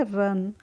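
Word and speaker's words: run: है यहां पे तो आर यू एन को हम रुण नहीं पढ़ते हैं इसको पढ़ते हैं हम क्या पढ़ते हैं रन ओके ऐसे ही हम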